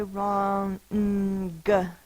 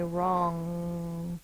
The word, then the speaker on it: wrong: good wrong R A we don't say wrong G wrong unless we're really overemphasizing the word but we tend to say wrong our tongue is squished to the back like when we say ring King all right we're going